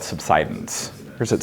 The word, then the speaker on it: subsidence: So the phenomena you're talking about is called subsidance or is it subsidance? Thank you. I never know how to pronounce that one. It's good having a geologist in the room. Subsidence.